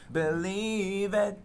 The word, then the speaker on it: believin': Na verdade, esse apóstrofo aqui, ele deixa claro que esse G é mudo, né? Então, ele acabou, como a palavra não foi escrita completamente, uhum. Então, informalmente, eles colocam esse apóstrofo para dizer que esse G foi eliminado.